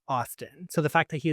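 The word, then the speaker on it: Awsten: Austin. Oh, Austin. Austin. That's how it's spelled. You pronounce it like it's spelled.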